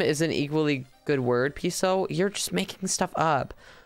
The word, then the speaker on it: piso: How do you pronounce piso? It's like piso.